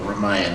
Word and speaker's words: Ramayana: I grew up reading epics like Beowulf, the Ramayana, or Ramayana, as some people pronounce it, the Mahabharata, different stories about the generous Hatim and Layla, who rode whirlwinds through the desert.